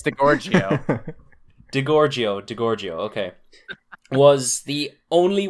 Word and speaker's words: DiGiorgio: You know, Steve DiGiorgio, I can't even pronounce these names. What the fuck? Steve DiGiorgio. Is that right? Steve DiGiorgio. What the fuck? Oh. It's Delicio. It's not delivery, it's DiGiorgio.